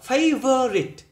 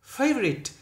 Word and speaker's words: favorite: não đó, gloomy, favorite, các bạn đừng đọc là favorite, no, favorite, mặc dù nó có đó nhưng nó rất là yếu, favorite, ok, rồi, therapy,